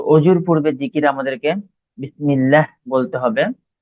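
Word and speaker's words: بسم الله: যদিও শেখানো হয় যে আল্লাহ শব্দের ডানে যদি জের থাকে তখন আল্লাহ শব্দের লামকে পাতলা করে পড়তে হয় তো বিসমিল্লাহ এইভাবে উচ্চারণ করার চেষ্টা করবেন তাহলে আমরা এবারে বিসমিল্লাহ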